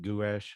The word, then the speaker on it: gouache: week man is that how you say it gouache yeah the good the yeah gosh just something